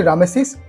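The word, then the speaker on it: Ramesses: জল্পনার কল্পনা সেই দ্বিতীয় রামেসিসের ব্যক্তিগত জীবন নিয়ে নানা ফলক কিংবা প্যাপিরাসের পাতায় লিখিত ইতিহাস কি বলে বাংলায় রামেসিস লেখা হলেও ইংরেজিতে উচ্চারণটা আসলে রেমেসিস মিশরীয় এর নামের অর্থ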